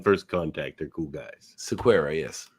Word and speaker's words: Sequeira: Sequeira, yes.